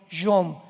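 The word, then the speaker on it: יום: Postreros es acharit, así como suena con CH, se pronuncia acharit, acharit. Y tiempos o días son yom, Y-O-M de mamá.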